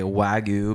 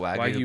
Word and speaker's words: Wagyu: at the Bellagio, and I got a Wagyu burger.